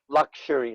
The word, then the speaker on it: luxury: luxury is correct luxury luxury so it actually takes on an sh sound luxury lux luxurious yeah luxury